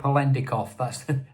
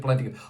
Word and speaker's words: Polendakov: I can't Polendakov. That's how you pronounce it. Polendakov.